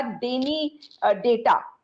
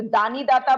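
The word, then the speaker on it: Dani Data: ऐप, आपने सुना होगा डेनी डेटा, तो दानी दाता बोल लीजिए, उसका स्पेलिंग DANI के तरह से है।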